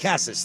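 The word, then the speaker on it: Casas: Cassis, thank you.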